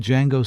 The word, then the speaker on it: Django: What made Django so radical was its refusal to play safe. The D is silent, but its impact on cinema is deafening.